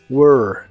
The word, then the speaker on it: were: s was y were se pronuncia como were pero con tu lengua lo más atrás que puedas y suena como monstruo were were estas formas de